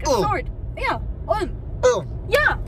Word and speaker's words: Ulm: Ulm. No, not Ulm. It sounds the same. No, you kind of stretch the U.